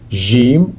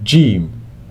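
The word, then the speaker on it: جيم: the in Jam okay you can pronounce it Jim or gim ha pronounced like the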